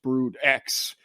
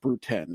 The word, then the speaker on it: Brood X: famous one is is not going to be pronounced brood X it's going to be pronounced brood 10 isn't it yeah the r a numeral yeah